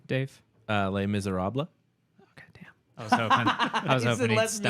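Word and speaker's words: Les Misérables: How do you pronounce the entire name, Dave? Les Miserables.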